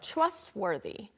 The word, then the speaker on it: trustworthy: and it just makes you a more trustworthy. Trustworthy. 네, trustworthy person. Mm-hmm. 발음은 trustworthy가 아니고 worthy.